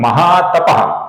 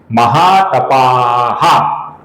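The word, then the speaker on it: महातपाः: महातपा यह गलत उच्चारण है दोस्तों। महातपा ये गलत उच्चारण है। अकारांत और विसर्ग ये गलत उच्चारण है। महा तपाहा आ के आगे विसर्ग आहा ये सही उच्चारण है दोस्तों।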